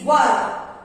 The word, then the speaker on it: were: Next is were. WERE were. सो ध्यान रखिए, बहुत सारे बच्चे इसको where ऐसा प्रोनाउंस करते हैं. This is WERE were.